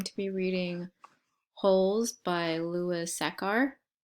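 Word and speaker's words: Sachar: be reading holes by Lewis a car I think I might be saying his last name wrong might be Lewis sacker but either way let's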